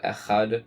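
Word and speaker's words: אחד: Also, some say pronouncing that last word Echad properly, whether by stressing the Ches or the Daled, will reward you with long life.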